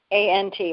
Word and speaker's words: Stuyvesant: Stuyvesant, right. Mm-hmm. Yeah, that's pronounced Stuyvesant.